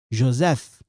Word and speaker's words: Joseph: Joseph, this one together, they sound like F. They sound like this. Joseph. Joseph. Okay? Like F. F.